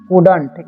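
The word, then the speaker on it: couldn't: ठीक है, कुडंट, इसे पढ़ते हैं हम लोग कुडंट। ठीक है, इसे यहाँ पर नॉट छुपा हुआ है। ठीक है, कुड नॉट, यहाँ पर एल जो है यहाँ पर साइलेंट रहता है।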